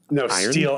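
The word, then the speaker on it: Stihl: what else do they make chainsaws out of steel s-t-i-h-l like I believe it's another German cup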